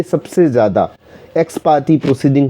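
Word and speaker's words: ex parte: इसका प्रोनाउंसिएशन दोबारा सुनिए, एक्स पार्टे। लोग इसको एक्स पार्टी बोलते हैं, तो इसका एक्स पार्टे, पर सामान्य भाषा में अब इसको एक्स पार्टी ही बोलने लग गए हैं।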